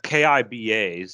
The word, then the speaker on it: Kiba: It's Kiba, so Yeah.